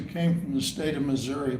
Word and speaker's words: Missouri: of us who came from the state of Missouri pronounce it that way. My brother, who lives in the state of Missouri, pronounces it Missouri, as did Harry Truman, so go figure.